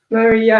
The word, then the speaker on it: Maria: Maria, and actually it only has 2 syllables, so it's Maria.